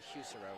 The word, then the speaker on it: Husero: Folks, I have finally gotten the correct pronunciation for the quarterback. It is Husero. So Landon Husero is the captain.